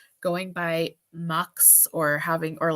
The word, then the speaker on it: Mx: Mux is like the gender neutral Miss or Mister. It's MX, and apparently it's pronounced Mux. I think it should be Mix, but apparently it's Mux.